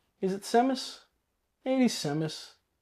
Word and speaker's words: Samus: It is Samus. Some people might pronounce it Samus. Samus. It's Samus to me.